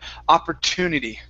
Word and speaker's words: opportunity: or sound okay but typically when we when we say this word we use an er we say opera opportunity opportunity a per opportunity there you go